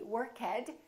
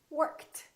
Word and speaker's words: worked: voiceless sound so the past tense of work is not going to be work head it's going to be worked worked let's practice a